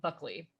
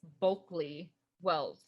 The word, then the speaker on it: Bulkley Wells: the man bulkley wells which i keep wanting to say buckley it's not it's bulky well i'm probably still saying it wrong but um she ended